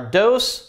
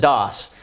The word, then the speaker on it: DŌS: needs first of all uh the product is pronounced dose I know it's kind of funny looking it